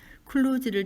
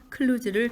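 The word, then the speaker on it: kluge: 발음을 유도하는 단점이 있다 클로즈를 제대로 발음하자면 슬러지가 아니라 슈즈에 가깝다 몇몇 사람들은이 단어가 바깥에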